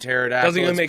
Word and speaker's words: pterodactyl: with is pterodactyl yes why is there a p and pterodactyl pterodactyl I do agree